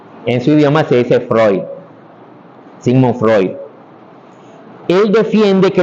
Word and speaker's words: Freud: Freud tal cual sigm Freud se escribe F r e u d y se dice Freud F r e ud o sea sería algo así como Freud Freud verdad pero en